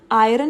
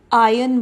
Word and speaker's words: iron: जो र की साउंड है वो साइलेंट है यहाँ पे, तो इसे हम आयरन नहीं बल्कि आयन बोलेंगे.